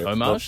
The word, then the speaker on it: homage: almost like a okay I appreciate you pronounce the h when you say homage homage Homage. Is it Is it Is it homage? Well, a lot of people homage. Omage.